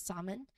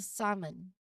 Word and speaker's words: salmon: Many people initially try to pronounce the letter L, but it's silent, so it's pronounced as salmon. You skip the L and go straight from the A to the M.